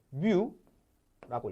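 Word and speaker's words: μ: 얘가 뭐냐면 얘를 뮤라고 읽어요. 뮤 온라인, 그죠? 그 게임 뮤와 같아요.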